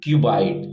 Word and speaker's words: cuboid: जैसे यहाँ पर सबसे पहला फिगर का नाम बता रहा है, ये है आपका, ये आपका है क्यूबाइड। ध्यान से समझिएगा, पहला फिगर आपका क्यूबाइड है। इसका स्पेलिंग CUBOID है, क्यूबाइड है।